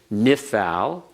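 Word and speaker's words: Niphal: it's named but notice if you know the name nifal just listen to the pronunciation nifthal nishmere nifcad they all follow the same pattern they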